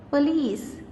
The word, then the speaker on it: police: And in the second word police, the second syllable is the stressed one, so there is an apostrophe before it.